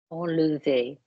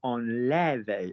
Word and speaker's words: enlever: Enlever. Enlever, not enlever, as we keep getting from various people who live north of the, the line.